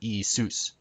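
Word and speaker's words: Ιησούς: e seuss e seuss with the accent on soos not e seuss but e soos and zeus would be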